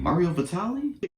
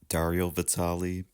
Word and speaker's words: Dario Vitali: Mario Vitali. Dario Vitali. I'm so sorry I mispronounced your name. It is Daario Vitali. Mario Vitali is a whole different person.